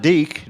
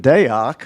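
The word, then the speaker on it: Deák: It's not Deak, D-E-A-K. It's not even Deak, which I used to say. It's Deak.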